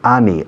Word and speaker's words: any: Se escribe any, A-N-Y, pero se pronuncia any. Any, como si fuera una E.